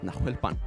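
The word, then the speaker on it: Nahuelpán: Nahuelpan. Did I say that right? That's perfect. God, your pronunciation's si better than mine.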